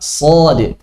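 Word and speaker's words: صاد: Bukan dibaca so, si, su, tapi dibaca sod.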